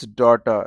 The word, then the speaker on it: daughter: And laughter, cough both have the sound of f. But this is daughter. H, G, H are both silent here.